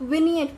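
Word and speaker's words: vignette: So that will be coming under विनियट। विनियट pronunciation is विनियट, remember this, okay.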